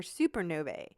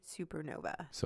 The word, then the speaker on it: supernovae: studying exploding stars or supernovae which is the proper way to say more than one Supernova so it's not supernovas I've heard people use